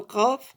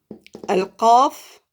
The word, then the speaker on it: قاف: C'est à l'intérieur. C'est dans la gorge.